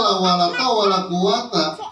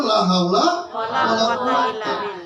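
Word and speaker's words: لا حول ولا قوة: Kira-kira bacanya benar atau salah? Yang benar la haula wala quwata.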